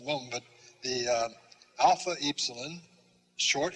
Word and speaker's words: epsilon: like rt sounds like epsilon is the another e sound long e as in feet the fee is f